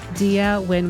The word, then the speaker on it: Diya Wynn: We're super excited today to have Dia Win with us. And Dia, am I pronouncing your name correctly?